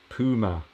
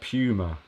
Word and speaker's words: Puma: is a german brand and the name is pronounced puma not puma okay well i'll i'll i'll keep switching it